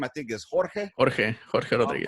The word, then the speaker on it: Jorge Rodriguez: Jorge Rodriguez. Right, got Jorge Rodriguez here. I like to pronounce it the right, proper Mexican way.